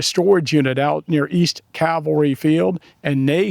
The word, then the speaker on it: cavalry: Oh, I'll be the first to admit I have a problem with the pronunciation of the word calvary or cavalry. Um I do know that the word is cavalry.